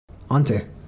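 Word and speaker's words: Antti: you say the name of your Lyricist again Auntie cor Auntie is that right a yes so finish names are hard sorry uh pronunciation so different huh oh would you mind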